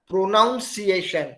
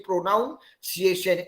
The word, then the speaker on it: pronunciation: so wrong wrongly pronounced pronunciation isn't it people say pronounciation n-o-u-n instead of n-u-n so pronunciation is the